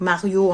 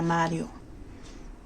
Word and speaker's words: Mario: Donc Mario en français, mais nous on le prononce en italien Mario.